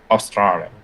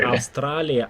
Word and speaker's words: Australia: His sister had gone to Australia. Только не Австралия, а Australia.